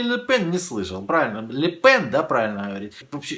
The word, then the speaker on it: Ле Пен: Правильно, Ле Пен, да, правильно говорить.